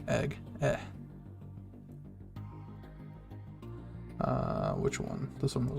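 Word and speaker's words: い: E. Looks like 2 ills, pronounced like E.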